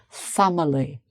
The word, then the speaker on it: family: So family, family, family. If I say it slowly, family, family. So the stress is on the first syllable, family, So it's not family, no, family. Okay.